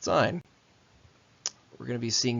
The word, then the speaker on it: sin: So s is pronounced sign.